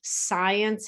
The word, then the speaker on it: science: the w is silent science has a c we don't pronounce as well as the e and many students say